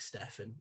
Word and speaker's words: Stefan: It's Zach Stefan. I see a lot of people spelling it Stefan, and you've made me pronounce it wrong for all those people.